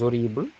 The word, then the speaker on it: horrible: Alors, des monstres horribles. Horrible commence par un H muet.